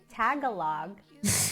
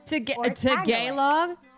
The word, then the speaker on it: Tagalog: It's not tagalog or tealog. Talog.